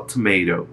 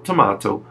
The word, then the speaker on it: tomato: Isso significa que quem fala tomato usa uma pronúncia americana, quem fala tomato usa uma pronúncia britânica.